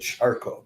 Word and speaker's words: Kharkov: and Donetsk, Lviv, and Kharkov. Although some people, I think, pronounce it Charkov these days.